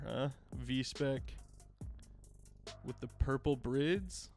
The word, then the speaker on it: BRIDE: with the purple brids brid it's not bride I think brid is closer than bride is but uh there's actually I've I've argued about the pronunciation of this before with people um there's an FD commercial because they're sponsored by them now and at the end it goes breed breed I don't know what